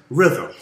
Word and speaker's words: rhythm: Today, we're going to talk about rhythm. Can you say rhythm? Ah, very good. Now, who remembers how we spell that tricky word, rhythm?